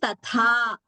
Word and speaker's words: तथा: Very careful we must be to only pronounce the second tha as mahaprana.